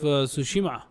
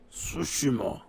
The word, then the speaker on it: Tsushima: Ghosts of Tsushima. Oh. Tsushima. I like how much you're able to pronounce names correctly.